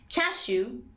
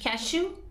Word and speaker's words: cashew: باز هم دو تا تلفظ ممکن داره، هر دو تا هم درست هستن. بادام هندی رو میتونیم بگیم cashew. یه دونش cashew.